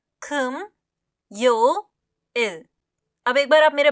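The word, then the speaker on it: 금요일: होता है कम्योल कम्यल उच्चारण पर हम ध्यान देंगे। यह होता है कम यो इल।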